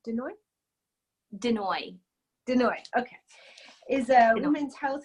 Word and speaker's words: De Nooy: Denoy.